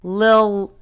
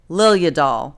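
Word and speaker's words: Liljedahl: And to be fair, it's not an easy name to say. I think it's Swedish. It's Peter Liljadahl. Now that's the slow version. Liljadahl. There, I said it right.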